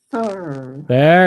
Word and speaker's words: further: further further yeah the try to hit that voice th because it sounds like you're saying fur further fur there it is